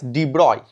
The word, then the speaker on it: de Broglie: 1924 the scientist D broccoli pronounced it as de broi the pronunciation is deploy it suggested that yes a